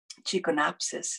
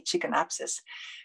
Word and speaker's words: Chikonapsis: Well, one of my favorite other flyers is the Chikonapsis is how you say it in Cree, Chikonapsis, but that's the dragonfly.